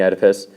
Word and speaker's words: Oedipus: It is pronounced Oedipus. The O is silent.